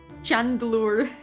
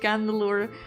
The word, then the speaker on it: Chandelure: Chandelure knowledge is pronounced candelure.